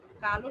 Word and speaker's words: কাল: আর কালো, কালো শব্দের অর্থ হচ্ছে কৃষ্ণবর্ণ।